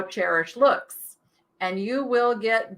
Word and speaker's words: Chairish: Cherish is spelled Chairish. Let me show you Cherish, because Cherish is amazing.